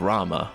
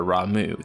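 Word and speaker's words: Ramuh: other than the dominant of Rama or ramu depending on how you want to pronounce it he's also rumored to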